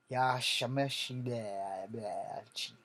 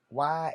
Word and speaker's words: Yamauchi: Yashamashi. Okay, we're gonna spell that too. Yamauchia.